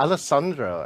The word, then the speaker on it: Alessandro: Yeah, it's like the Italian version of Alejandro. Ah, Alessandro.